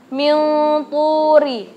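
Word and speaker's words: مِنْ طُورِ: Cara bacanya bukan min turisaina, bukan. Kita harus memasukkan, menyamarkannya bahwa kita mau baca huruf selanjutnya to. Jadi min turi, seperti itu.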